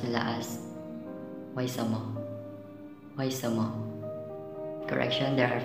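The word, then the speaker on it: 为什么: Pronunciation, pinapronounce nila as Weishima.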